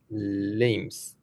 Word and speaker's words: limbs: So that that word is that letter is silent. So try again. Have a guess. Just guess. Limbs.